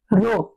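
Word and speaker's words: rho: উচ্চারণ হয় রো।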